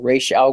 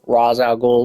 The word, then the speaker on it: Ra's al Ghul: statue tutorial today we're going to be building R Al or RZ Al just depending on what interpretation you are basing the pronunciation off of we going